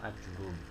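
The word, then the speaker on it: آجُرُّوم: kitab Syadarat Al-Zahab, formulisnya dengan memfathahkan huruf alif mamdudah, mendhommahkan huruf jim dan mentasydidkan huruf ra. Jadi bacanya gimana? Memfathahkan alif kan panjang, mamdudah itu kan panjang, jimnya di dhamma, ajurumi, salah ajurumi menurut Imam Ibnu Imad Al-Hambali.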